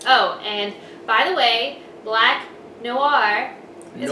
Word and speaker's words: Black Noir: and by the way black noir is pronounced black noah just say it fast and you're good and the girl's name